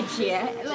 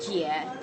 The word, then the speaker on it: Jia: How do you say it? Jia. I can't do the nice tonal thing. I just say make it. G. I just make that American sound.